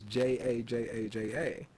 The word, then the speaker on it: jajaja: J in the Spanish language sounds like a H in the English language. So they're still saying ha ha ha, but phonetically for them it's JaJaJa.